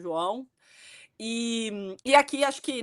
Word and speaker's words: João: the first time, right, João, Joal, right, people can't pronounce it that way, but we'll insist on João.